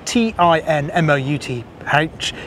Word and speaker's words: Teignmouth: in fact it was actually called tinmouth spelled t i n m o u t h even though it's spelled touth but pronounced tinmouth if that makes